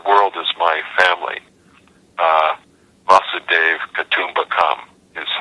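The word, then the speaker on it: वसुधैव कुटुम्बकम्: v tradition the world is my family uh M Dave Kum become is how you say it in in Sanskrit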